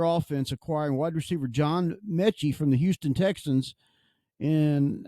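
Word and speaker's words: Metchie: But Eagles acquire receiver John M is how you pronounce his name. Miychi. Villa of the Eagles continue bolstering their offense, acquiring wide receiver John Mechy from the Houston Texans in exchange for a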